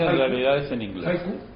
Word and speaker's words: haiku: Pero, un japonés pronuncia, dice haiku con J. O sea, el sonido del haiku se parece más a la J.